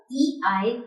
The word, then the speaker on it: Ei: If AI or EI is together in a word, then the pronunciation would be I. I. AI or EI will be pronounced as I.